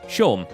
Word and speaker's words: Seam: we may as well the names seem pronounced Shawn of course it is Shawn's and